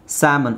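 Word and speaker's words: salmon: ನಿಮಗೆ ಅನೇ ಬರುತ್ತೆ ಜಾಸ್ತಿ ಸ್ಯಾಮನ್ ಇದನ್ನ ಮಾತ್ರ ಸ್ಯಾ ಅಂತ ಹೇಳಬೇಕು ಸ್ಯಾಮನ್ ಸೊ ಇದು ಆಬ್ವಿಯಸ್ಲಿ ಶುಡ್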